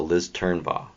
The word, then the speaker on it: Turnbaugh: So Liz Turnbaugh. Yes. I'm saying it correctly? You're saying it perfectly.